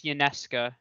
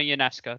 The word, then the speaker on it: Ionescu: I'm not a big WNBA fan, but I believe it's Ionescu. Sabrina Ionescu.